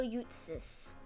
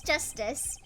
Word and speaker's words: Justice: Apollo Eustace. Eustace? Apollo Eustace. That's justice.